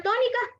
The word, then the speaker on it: tónica: ¿Y cuál es la sílaba tónica de la palabra tónica? To. Y las otras, estas como ser ni, ca, se conoce como átonas, ¿ok? Que se pronuncian con menor fuerza de voz.